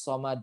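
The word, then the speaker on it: الصَّمَد: Jadi bacanya so, bukan so. Ya, kalau so itu dia tebal, pangkal lidahnya naik, gitu kan ya. Ini belakang lidahnya tuh naik, jadinya so. Kalau misalkan nggak naik, dia bacanya jadinya so. Allahus so. Nah, gitu. Allahus somad. Nah, gitu. Somad jadinya, bukan somad.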